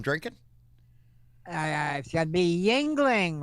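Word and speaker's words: Yuengling: what beer i'm drinking uh i should be yingling right yeah i'm glad you said it right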